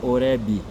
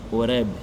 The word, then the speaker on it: Horebe: Então cuidemos porque o B no final da palavra é mudo. Então a gente não pronuncia Horebe, mas Horebe. Massa e Meriba, que é